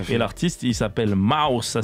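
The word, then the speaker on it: Maws: Et l'artiste il s'appelle Mouse, ça s'écrit M-A-W-S.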